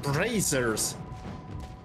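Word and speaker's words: brazier: They're supposed to have brazers. Yes, that's how it's pronounced. Brazer. The eye is silent.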